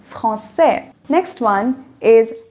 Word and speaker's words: français: C is pronounced as K. So without the accent, it would have been franquais. And I want it to be français.